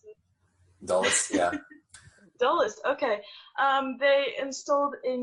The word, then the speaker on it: Dulles: So basically, what happened is the DC Dulles Airport. Is that how you pronounce it? Dulles, yeah.